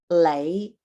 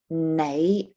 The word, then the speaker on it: 你: I still use the N when I write it because that is the proper pronunciation is nei, for example, instead of lei.